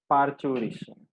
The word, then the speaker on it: parturition: Yes, it is parturition. Okay. So what's the spelling? Parturation. T है, but we pronounce it as parturition.